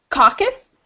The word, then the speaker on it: caucus: candidates coaches shirt cocos cheers who's how to pronounce it caucus Kyle caucus-goers conquer scholars separate into group in